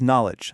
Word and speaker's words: knowledge: Lisa's knowledge, that K is completely gone, just like our rule said it would be.